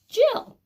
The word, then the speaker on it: Jill: and again two L's it rhymes actually with the word we had on the front will one L sound but this is a girl's name Jeff Jill so hopefully you were